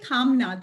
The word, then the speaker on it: Kamna: uh i'm so sorry it's actually kamna the middle is silent it's like yeah like like kamala but kamina i will get your